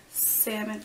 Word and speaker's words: salmon: Ant, roof, root, wash, oil, theater, iron, salmon. I always want to say the L.